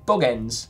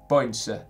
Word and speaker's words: Bogense: in Bogens, to be precise. I think it's Boense. Boense, to be precise. It's closer to the correct pronunciation.